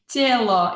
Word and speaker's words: тело: Telo, T-E-L-O, is that how you say it? Тело, yeah, body, тело.